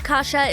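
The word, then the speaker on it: kasza: The Polish version of kasha is kasha, which is pronounced the same but spelled with a Z instead of an H.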